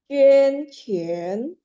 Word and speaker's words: 捐钱: 捐钱. Ya, 捐钱 ya, 捐 mulutnya setengah bulat ya, 捐钱.